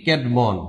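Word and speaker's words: Cædmon: ক্যাডমন এই ক্যাডমন উচ্চারণটা হবে এরকম। ইংরেজি সাহিত্যের প্রথম কবি বলা হয় ক্যাডমন কে।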